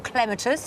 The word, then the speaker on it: clematis: my question is about crematus or clematis if you want to pronounce it that way could you recommend one